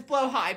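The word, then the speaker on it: Blåhaj: recently i got a blah just for the bit which i think isn't really haha funny but is blah huh and before somebody corrects me i know the correct pronunciation is blow high but that doesn't work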